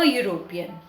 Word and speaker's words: European: but the sound e the combination of e and u the sound it is creating is u which is a consonant sound so consonant sound that